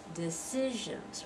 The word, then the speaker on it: decisions: next word decisions right decisions are only three syllables here decisions that middle one is the one that stressed can you hear it decisions decisions decisions you don't really hear the first one and you don't hear the last one real well decisions decisions and we